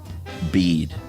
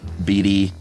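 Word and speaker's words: Bede: can assure you that the pronunciation of his name is the same as bead is that a disappointment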